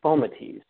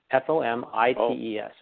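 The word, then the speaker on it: fomites: cartoons and people they say but it's actually pronounced foam at ease fom IES film at ease poker okay now now that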